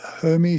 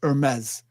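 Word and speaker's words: Hermès: ended up in the Hermes shop I never say it right it's supposed to be Hermes Hermes shop um and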